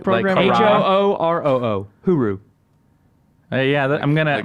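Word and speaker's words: hooroo: Huru. Yeah, I'm gonna. Like my hooray? vote is like it's like hooray. Yeah. My bet is that Scooby Doo is the spokesperson for Hulu over there. Huru.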